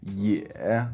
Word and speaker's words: 也: Next, we have the pronunciation ye, which is E plus e, that third pronunciation of E that sounds like the E in number 10. So most likely the most common word for this pronunciation would be ye with a third tone, which means also in Chinese.